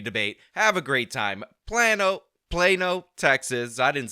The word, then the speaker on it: Plano: Some people pronounce it Plano. They're totally wrong and ridiculous. Trust me, it's Plano.